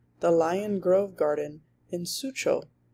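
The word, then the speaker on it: Suzhou: The Lion Grove Garden in Sucho, which is pronounced Su-cho.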